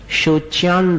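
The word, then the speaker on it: शोच्यां: शोच्यान दशा, अनुस्वार का उच्चारण न के समान, शोच्यान दशा मुपगताश, च्युत जीविताशाह, यहां फिर विसर्ग पर ध्यान देना।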